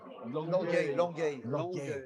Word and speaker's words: Longueuil: How do you pronounce it? Longueuil? The club. Longueuil.